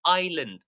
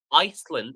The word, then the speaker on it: island: By the way, the word that Amin shared here is pronounced island. We don't pronounce the S. Okay, so we never say Iceland.